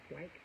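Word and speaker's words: Wyche: named Barbara white white I don't know how to pronounce this wyc h e white we White we going to go with white Barber white went into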